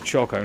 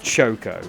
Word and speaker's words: choco: pronounce things differently but the word choco on its own is choco not Shoko it's not ke I